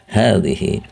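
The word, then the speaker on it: هذه: Ya, hazihi misalnya hazihi sayyaratun, untuk muannas. Dan di sini antum perhatikan ya. Dan di situ huruf ha, ya, di awal isim isyarah itu kan harokatnya pendek ya, tapi bacanya panjang.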